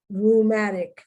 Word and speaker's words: rheumatic: connotation at one time it wasn't negative though rheumatic like you have rheumatism you know your arms